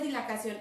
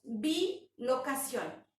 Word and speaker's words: bilocación: Yo pronuncié mal. No es dilacación, es bilocación. Bi quiere decir 2, locación, lugar.